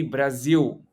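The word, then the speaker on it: Brasil: it needs to be Brazil you don't you don't pronounce the L and I was trying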